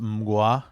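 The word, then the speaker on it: Mgła: They're called uh it's pronounced MUA.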